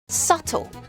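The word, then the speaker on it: subtle: 초콜릿이 아니야 초콜릿 살려주세요 sule sule 미묘한 교묘한 영리한이라는 뜻이 있습니다 발음이 묵은 발음이에요 C C 이렇게 발음합니다 컵 보드가 아니에요 컵하나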